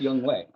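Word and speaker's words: Younghoe: okay good for you young way it's pronounced young way I like that though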